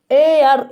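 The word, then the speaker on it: heir: मतलब एयर, इसे आप इसका उच्चारण भी करेंगे एयर, आप बहुत ज़्यादा आप नहीं बताएंगे, खैर थोड़ा टाइम नहीं है इतना।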